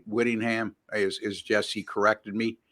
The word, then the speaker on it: Whittingham: you guys jump all over me as said Willingham it's w Whittingham as is Jesse corrected me not corrected me but he pronounced it correctly so uh uh there's that